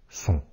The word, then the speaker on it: sont: Alors, il ne faut pas confondre les homonymes qui se prononcent son et s'écrivent S-O-N avec ceux qui s'écrivent S-O-N-T.